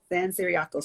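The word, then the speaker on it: San Ciriaco: invasion after the hurricane well how's the hurricane pronounced san diego san siriaco so the hurricane and the u.s invasion caused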